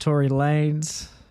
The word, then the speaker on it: Tory Lanez: It's pronounced Tory Lanez.